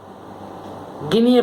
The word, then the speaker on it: guinea: Guinea pig. Guinea pig. Guinea pig is a noun. Guinea pig. Now don't pronounce the word A. When you pronounce it, the pronunciation is guinea pig.